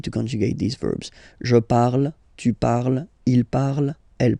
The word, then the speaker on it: parle: So even if you've got this ENT, well, don't hate me, but you won't pronounce these letters. Okay, you have to write them for the plural form, but you don't pronounce them. So you get il parle, elle parle.